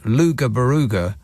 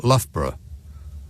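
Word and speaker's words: Loughborough: says Martin in lufra that's luga baruga not lufra luga baruga right okay yeah L is not spell in any way like it's pronounced but you know it's one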